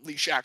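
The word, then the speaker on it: Lezak: where jason leashack and i'm trying very hard to pronounce that correctly it is a very jewish name um lee shack so it's like shadrach meshach and abednego again going i don't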